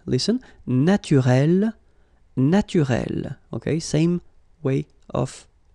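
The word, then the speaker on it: naturelle: So here you can see that we write them differently, but then phonetically they are the same. Listen, naturel, naturel.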